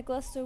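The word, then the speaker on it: Gloucester: it's not it's not spelled Edinburgh, but yeah, Glaster Woo. Yeah, SuffK. Yeah, it's pronounced like that.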